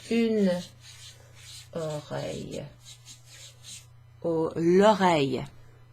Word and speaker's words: oreille: It's like a y sound rather than a double L. That's ears. And it's plural. And une oreille is an ear. That's feminine. So it's une oreille.